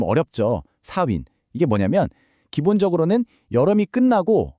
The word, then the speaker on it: Samhain: 발음이 좀 어렵죠. 4윈.